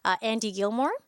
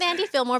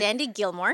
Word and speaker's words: Gilmore: a digital artwork by Andy Gilmore. And he does a lot of digital work. And so I'm thinking of Andy Fillmore, sorry. Oh, yeah. Rhymes with Andy Fillmore, but it's Andy Gilmore.